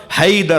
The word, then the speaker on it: حیدر: حیا درہ، حیدر حیدر حیدر حیدر صحیح تلفظ ہوگا حیدر ہوگا. وہ ہئی سے، حیا سے، حیدر. عرب جب بولتا ہے نا وہ حیدر نہیں بولتا ہماری طرح، وہ کہتا ہے حیدر.